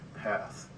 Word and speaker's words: Perth: perth western australia and they pronounced it path there's no r's like shock not shark this is a shock so it's path but anyway i went